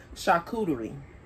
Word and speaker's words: charcuterie: the restaurants all the time let's see her pronounce it almost half of y'all charcuterie so yeah i said it right but anywho